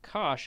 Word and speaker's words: cosh: for this we say Kosh the hyperbolic cosine you pronounce it Cosh Alpha is defined to